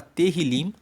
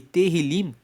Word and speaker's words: Tehillim: Tanto que o livro de Salmos no hebraico se chama Tehillim, que se escreve T-E-H-I-L-I-M, e Tehillim quer dizer louvores.